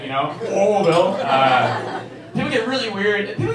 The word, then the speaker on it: Louisville: You gotta say like you don't pronounce the S's. You gotta pronounce the punch in the stomach. You know, Louisville.